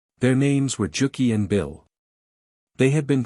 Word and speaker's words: Juki: Juki, in Norse, would be pronounced Juki, which would readily become Jack, and Bil, for the